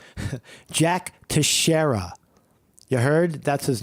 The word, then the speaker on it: Teixeira: His name is Jack Teixeira. At his home in Massachusetts, that's him, hands on his head in the red shirt. The only thing mainstream media is good for is pronunciation. Jack Teixeira.